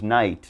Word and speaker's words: knight: you're gonna look silly so try to remember k n for your pronunciation do not pronounce the k just ignore it and give it the n sound no knowledge knight new like that i hope